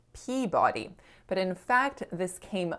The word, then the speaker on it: Peabody: of ours who's from massachusetts and i said peabody just like my husband instructed me to and our friend said actually vicky it's pronounced peabody and i was like oh he led me